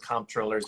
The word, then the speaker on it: comptroller: including those judges and comptrollers and city council people and sheriffs. You love that word. I love comptroller because nobody knows what it means. Comptrollers. Anyway, that silent P thing.